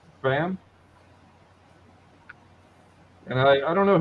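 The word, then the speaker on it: Pham: and thor was coy how do you say a p-h-a-m fam fam and i i don't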